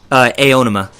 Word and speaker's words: Aonuma: Well, that and the trailer, I believe, how do you pronounce it? Aonuma? Aonuma.